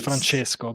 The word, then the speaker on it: Francesco: think LinkedIn has something like that how to pronounce your name yeah my name is Franchesco but some people of course they don't pronounce